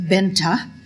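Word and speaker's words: Bengt: B E N G T pronounced Benta Lindstrom emigrated from Halland, Sweden in 1889.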